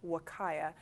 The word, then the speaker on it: Huacaya: This first one, the darker brown, is from a Wakaya, and that's Huacaya, and it's pronounced Wakaya.